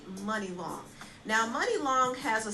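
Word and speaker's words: Muni Long: name is money long it's actually spelled like mooney long m-u-n-i-l-o-n-g i used to think it was called mooney long but it's actually money long now money long has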